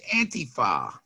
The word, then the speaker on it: antifa: all right well first of all it's not pronounced like donald trump does it's anti-far sorry and everybody well everybody's doing the donald